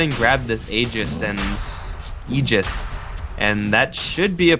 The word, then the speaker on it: Aegis: They're going to go ahead and grab this Aegis and Eegis.